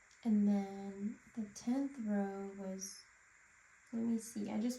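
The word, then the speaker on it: わ: So it's pronounced like wa in wasabi.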